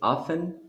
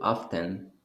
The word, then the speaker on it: often: that is over there is often or often so both are correct yes and uh often probably is more like american pronunciation naftan is more like british and and emphasizing on the correct pronunciation but you can also say often now what are you